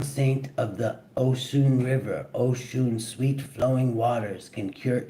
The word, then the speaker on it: Oshun: Oshun pronounced Oun is the mother of the Nigerian Yoruba people and her name means the source.